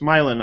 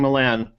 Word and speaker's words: Milan: So before we have share his screen, and I'm sorry, I guess I was mispronouncing your name. It's Milan. I was saying Milan. I was putting the emphasis on the wrong syllable.